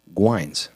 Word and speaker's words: Guynes: it on a screen so it is pronounced gines M and it's refreshing to